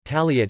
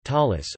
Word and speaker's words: tallit: four corners of the talit hebrew taliat ashkenazi pronunciation talis or prayer shall the